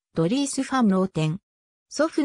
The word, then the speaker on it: Dries: の 6 人の一人現地オランダ語発音ではドリースファー no 10 祖父の代から続く